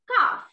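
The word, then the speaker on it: calf: answer second lesson this is called kaff okay together but this is not called the pronunciation is cough c-a-l-f cow cough tower baby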